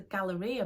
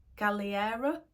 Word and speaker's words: Galleria: and I thought it was called the Galleria, but it was actually, I think it's called the Galliera. Somebody corrected me in the comments, so thank you to whoever that was, because I was saying it wrong the whole time.